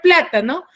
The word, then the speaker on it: plátano: Última, la no, la ta penúltima y pla antepenúltima. ¿Cuál tiene la mayor fuerza de voz? Es la palabra, la sílaba pla.